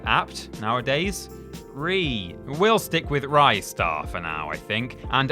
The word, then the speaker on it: Ristar: And number 1, Ristar. Or Ristar, as a lot of people apparently pronounce it.